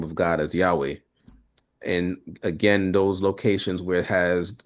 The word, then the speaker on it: Yahweh: So, we pronounce the name of God in our Bible study as Yahweh. Many people pronounce the name of God as Yahweh.